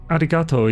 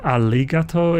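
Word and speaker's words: ありがとう: like like you like Arigato is pronounced more aligato and it's like well no it's not an actual l sound it just has a similar like way the tongue moves to it as far as I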